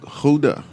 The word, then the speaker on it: Gouda: Gouda is how you pronounce it.